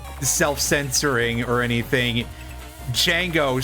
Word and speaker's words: Django: Django, spelled D-J-A-N-G-O, is legitimately pronounced that way because it's French.